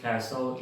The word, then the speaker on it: castle: La 45, la STLE se pronuncia so. la T es muda. Tenemos los ejemplos castle y apostle.